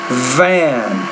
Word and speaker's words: van: going to say fine Van Van Van so yet you have to make sure it's not like fan band but it's fan van fun wafer labor so